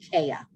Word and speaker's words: Kheya: Anna, they put some stuff in the chat that you might understand, and also my name is pronounced Kheya. There's no L in there.